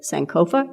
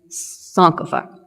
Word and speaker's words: Sankofa: and let me say I have heard it pronounced both sanova and sopa I will probably flip